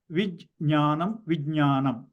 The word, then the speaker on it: Vijnanam: Vijnanam. Okay, this is the Vij and there's a cha-cha-ja-ja-nya. Immediately one after the other.